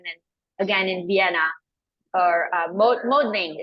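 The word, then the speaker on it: Mödling: again in Vienna or modling is that how you say it yes yes moodling moodling moodling so that will be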